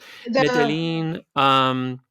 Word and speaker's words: Medellín: Yeah, the violence, and then the Medellín. Am I pronouncing that right? Medellín.